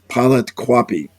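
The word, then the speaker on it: Pleiadians: place he recognizes as the ancient city of Pleidians, right? Am I pronouncing that correctly, Mark?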